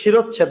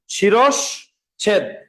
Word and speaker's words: শিরশ্ছেদ: শিরচ্ছেদ এই শব্দটা বানানে আসে, তোমরা ভুল করো ভাই, এটার উচ্চারণ কিন্তু শিরচ্ছেদ না। আজকের পরে মনে রাখবা শিরস ছেদ।